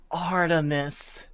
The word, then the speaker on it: Artemis: the blog of a female beater name Artemis pronounced Artemis I discovered it about three years ago and